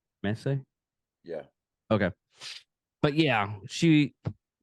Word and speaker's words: Messi: just open to show the top and it's pronounced Messi Messi yeah okay but yeah she oh really is